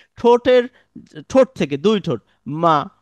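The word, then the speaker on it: مَ: আপনারা একটু দুই ঠোঁট যুক্ত করে বলুন, মা, মা, মা।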